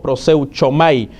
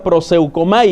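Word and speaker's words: προσεύχομαι: Así como suena, proseu, el sonido ko es CHO, proseuchomai. Así se escribe, pero se pronuncia proseukomai.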